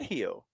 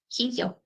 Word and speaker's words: Hijo: She said Hio. Hijo. Hijo. El Hio de Vikingo. Hijo. Hijo. El Hio de J Vikingo. is pronounced like Hijo.